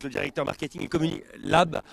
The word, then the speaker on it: Labesse: Et vous, Christophe, vous êtes donc Christophe Labesse, vous êtes le directeur marketing et communi Lab, on prononce pas le S.